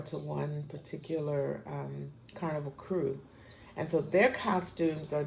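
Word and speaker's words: krewe: the the crew and the word crew for Mardi Gras is spelled k-r-e-w-e-k-r-e-w-e so the crew is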